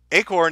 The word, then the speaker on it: acorn: From Acorn, Acorn is pronounced with a hard C.